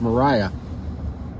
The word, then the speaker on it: Maria: think it would be it's always Maria right because it's it's spelled Maria but it's always been pronounced Mariah I would think that